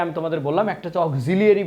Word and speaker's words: auxiliary: আর একটা কথা তোমাকে আমি দাদারা একটু বলে রাখি, তোমরা কিন্তু এই যে অক্সিলারি বানানটা একটু দেখো, অক্সিলিয়ারি কিন্তু অক্সিলিয়ারি, আমেরিকানরা উচ্চারণ করে অক্সিলিয়ারি ভার্ব, AUXILI মনের সাথে একটু মিলাই দেখো তো, এই ভার্বটা তুমি আগে থেকে জানতে?